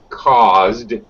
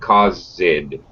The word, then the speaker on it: caused: first of all pronunciation caused one syllable caused pasta that's it not cosid caused okay and secondly did